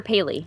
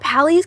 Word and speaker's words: Pally: but Adam, is it Pally or Paley? I don't know how you're supposed to pronounce it. Let's call him Pally, because that's how it's spelled.